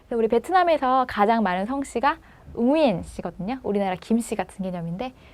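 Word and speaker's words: Nguyễn: 우리 베트남에서 가장 많은 성씨가 응우엔 씨거든요.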